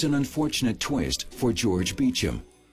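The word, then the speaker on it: Beauchamp: But there's an unfortunate twist for George Beecham. His name doesn't look anything like it's pronounced.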